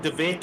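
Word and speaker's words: De Wet: Paul Fenter with the V and DeWet with the W, but it's pronounced the same.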